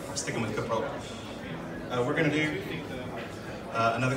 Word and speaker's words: Coppola: I'm sticking with Coppola.